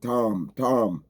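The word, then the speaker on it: تام: It's not T-O-M. That T, if in the transliteration, it would be T-A-M. And in the phonetic spelling is like a T. If you want to use English to spell it, it's like a T-A-W-M. T-A-W-M. Tom.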